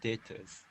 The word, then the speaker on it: debtors: So this B is silent. Correct. Debtors.